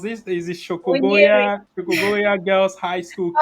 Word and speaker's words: Munyiri: young Chris in I don't know how you pronounce this. Is it Munyiri.